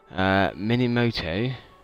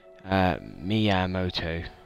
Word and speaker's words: Miyamoto: Just looking up here, Minimoto, I think that's how you pronounce the name, Japanese guy to do with Nintendo, Miyamoto, I think that sounds right.